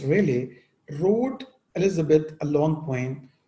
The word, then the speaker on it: Raleigh: Sir Walter Raleigh, pronounced Raleigh, wrote Elizabeth a long poem, The Ocean to Cynthia.